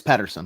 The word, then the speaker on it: Pettersson: I believe it's Elias Pettersson.